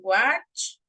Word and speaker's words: watch: Okay, let me tell you that in simple form, en la forma base, este se pronuncia como watch, cha, cha, cha, como que nosotros decimos cha.